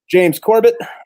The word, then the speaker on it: James Corbett: I'm Tripp, and this is my buddy, James Corbett. I'm pronouncing that right.